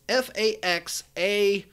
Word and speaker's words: Faxanadu: I can't even really properly pronounce it. It's Faxanadu.